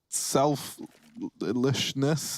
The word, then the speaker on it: selflessness: I got to say, I love the selflessness. How do you say selflessness? That's the one. I put a sh in it when there's no sh.